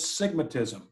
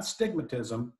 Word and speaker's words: sigmatism: One is sigmatism, S-I-G-M-A-T-I-S-M, sigmatism. Not stigmatism, but sigmatism.